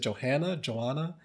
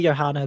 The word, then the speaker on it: Johanna: if I'm wrong, but is it Joanna? It's technically Johanna, but like Johanna.